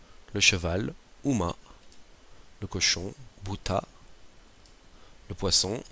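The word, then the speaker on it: 豚: le chien inou le cheval uma le cochon bouta le poisson Sakana la grenouilleou le renard kits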